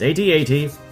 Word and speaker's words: AT-AT: That's not how you pronounce the AT-AT. It's AT-AT, not at.